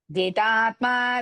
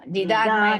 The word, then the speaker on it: जितात्मा: Jitatma vigatas spruhaha. Jidatma vigatas spruhaha. No. Jidatma, no. Jita, first ta, and Vigada is not there, Vigata. जिदात्मा विगतस्पृहः जिदात्मा विगतस्पृहः And learn that how to pronounce the tha bagini.